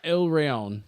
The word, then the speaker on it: Il Rione: So like this Saturday, I'll be at Il Rione Pizza. Okay. Is that how you say it? Yeah. Il Rione.